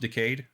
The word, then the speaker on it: Decade: because it was um i guess it should be decade but it's pronounced decayed it's more anime that way um it was a